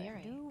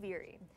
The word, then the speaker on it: Duviri: Duviri out loud is that's how you pronounce it, by the way. Duviri. Duviri. Duviri.